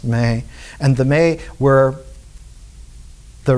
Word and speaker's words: me: in ancient Akkadian was called the May, M-E, but pronounced May.